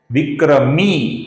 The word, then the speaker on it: विक्रमी: विक्रमी मी दीर्घ है।